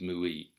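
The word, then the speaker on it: 無為: And of course, the other thing to bear in mind is that the Chinese characters wu wei, pronounced in Japanese mui, were identified when Buddhism passed into China.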